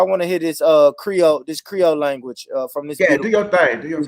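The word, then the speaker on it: Krio: got Jacob I want to hear this uh Creole this Creole language from this do your thing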